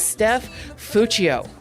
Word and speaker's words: Steph Fuccio: This is Steph Fuccio. Yay! Hello. Yes, I pronounced it right.